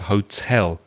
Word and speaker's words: hotel: pronunciation of the word hotel the stress is on the second syllable not the first that's a common mistake